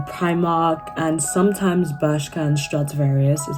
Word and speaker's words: Stradivarius: In-store, I would say that I shop at H&M and Primark and sometimes Bershka and Stradivarius is how you pronounce it.